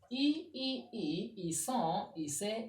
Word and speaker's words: ils sont: Meaning the first three persons, the S and T are silent. Here the ONS, the Z, the ENT are silent.